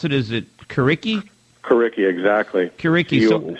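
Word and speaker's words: Curriki: it is it kicki kicki exactly Ki c r as in curriculum and iki as in Wiki all and so what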